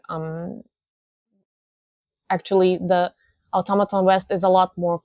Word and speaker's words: Automaton: was automat or sorry I accidentally pronounced you guys as Automodin for a long time. It's automaton.